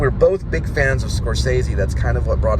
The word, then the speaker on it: Scorsese: It was called Taxi Driver and I said his name was like Scorsese or something. And then I hear this guy in the corner of the room go, Scorsese.